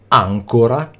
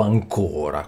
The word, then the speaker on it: ancora: dizionari e nelle grammatiche l'accento grafico spesso compare anche nelle parole dove normalmente non va messo perché serve a far capire come deve essere pronunciata quella parola indicando Dove cade l'accento tonico e se la vocale sia aperta o chiusa quindi Nei dizionari abbiamo graficamente la visione dell'accento sulla parola vi faccio un esempio che è quello tipico ancora o ancora quindi già se io